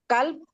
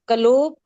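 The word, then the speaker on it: قلوب: अब इबाद, दम, दिमाआ, कल्ब, कलूब, सदर, सदूर, मालिक, मलूक। सिस्टर, प्रोनाउंसिएशन बिल्कुल ठीक रखेंगे। अब से इबाद ही बनेगा, दम से दिमा, कल्ब से कुलूब, काफ के ऊपर पेश ही आएगी, कलूब नहीं कहना, ठीक है।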